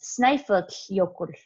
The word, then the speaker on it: Snæfellsjökull: And this double L that you see is kind of interesting because you have to blow the air out between the sides of your teeth into the side of your mouth.